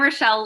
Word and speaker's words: Rochelle: You're not the first one to call me Rachel. You won't be the last. So I'm Rochelle Lang.